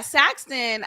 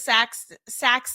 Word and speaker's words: Saxon: His older brother, yeah, Saxton, I think he is of age. I think he either just applied. Yeah, his name is Saxon. I'm saying it wrong.